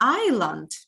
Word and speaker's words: island: it is called an island. Island, yes. Yeah, you know this. I remember. Yeah, be careful. We write it with an S, but we do not pronounce it.